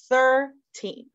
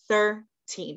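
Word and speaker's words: thirteen: And we see that double E again, that vowel team of EE. And just like we did in our very first words way up here of beach and sheet. And so we see that vowel team again. So we know that makes that E sound.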